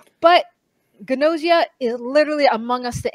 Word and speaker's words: Gnosia: It is called Ganosia, spelled G N O S I A. I wasn't sure how to pronounce it. I really thought the G was silent until I started watching. But Gosia is literally Among Us the anime.